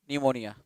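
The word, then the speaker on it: pneumonia: ये गलत है स्पेलिंग, इसका निमोनिया का स्पेलिंग क्या होता है, निमोनिया, P से शुरू करेंगे, PNEU, निमोनिया।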